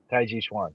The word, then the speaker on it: tai chi chuan: say that one more time because i always mispronounce it uh it's the uh combative forms with tai chi um tai chi chuan tai ji shwan yeah come on yeah it's like uh it's